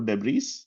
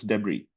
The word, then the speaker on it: debris: It's not debris or debris. It's debris. S is silent completely.